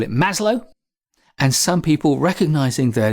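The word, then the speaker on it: Maslow: Eastern European name Will pronounce the W as a v masloff one of his assistants has gone on record to state that Marlo himself pronounced it Marlo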